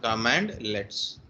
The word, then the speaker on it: cmdlet: or completely bored command legs a command light pronounced as a com command command let's so light weighted commands which is used in